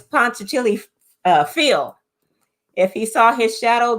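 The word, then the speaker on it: Punxsutawney Phil: And that's when I always get his name wrong. Ponce Chili Steve or Fred or it's Phil. It's Ponce Chili Phil.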